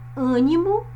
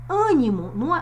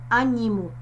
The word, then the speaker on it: ânimo: Ânimo. Percebam que o som mais forte é o A, mas que esse A, ele se encontra com um som fechado. Forte e fechado. Ânimo, não é animo. É ânimo.